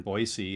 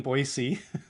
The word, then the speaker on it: Boise: And I did say it wrong for the longest time, and I got corrected, reprimanded very harshly that it's no Z in Boise.